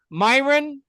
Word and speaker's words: Myron: So, I meet people like you and is it pronounced Myron?